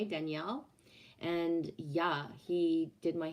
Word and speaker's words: Danielle: feels good and then danielle which is the femin the masculine equivalent of daniel in quebec is still pronounced the same way danielle and yeah he did